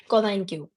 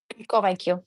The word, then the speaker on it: convaincu: Convaincu. Your pronunciation was very off. Convaincu. Convaincu.